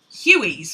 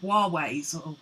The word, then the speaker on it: Huawei: It's like those phones, I think it's Hueys, we call them. but it's actually Huawei's or something like that.